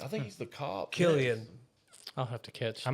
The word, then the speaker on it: Cillian: Killian. I'll have to catch. I'm gonna that. say Cillian.